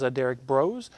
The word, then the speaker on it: Derrick Broze: Our next one up is Derrick Broze. Did I pronounce that correctly?